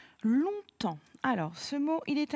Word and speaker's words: longtemps: un petit peu compliqué il a plusieurs lettres muettes la première long ici donc ce mot longtemps est composé de deux syllabes écrite long étant l'on vient de la famille de long la longueur c'est la même façon d'écrire l'adjectif donc on fait attention à la lettre g étant tmps attention ici